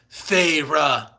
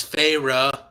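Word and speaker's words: Feyre: the two syllable name two syllables of my name farra whoa that's good now I know how to pronounced that I wouldn't have assumed it was phra reading it it's f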